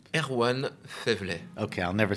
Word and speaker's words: Erwan Faiveley: How do you pronounce? Erwan Faiveley.